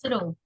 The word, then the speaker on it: through: That's the writing, but the pronunciation is like this. Through.